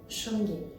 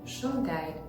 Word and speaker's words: Shungite: If you want to go for authentic Russian pronunciation, you should say Shungite. However, we completely understand that the English language has its own rules of reading and speaking, so the pronunciation Shungite is totally acceptable, especially since it's already widespread.